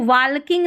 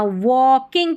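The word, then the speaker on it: walking: है ना यहां पर इसको वालकिंग नहीं पढ़ना वॉकिंग पढ़ना है। वॉकिंग डब्ल्यू ए को व पढ़ते हैं। एल साइलेंट है और के आई एन जी किंग बन गया।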